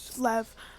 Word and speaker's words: Lev: Lev, that's how you say his name.